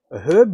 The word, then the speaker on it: herb: uh it's like a herb mix sorry we pronounced the h in herb in australia um so um uh